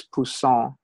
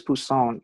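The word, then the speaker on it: Poussin: of Jesus also Nicholas Pon and he's his name is spelled rather interesting it's French p o u SS i n now when be sonier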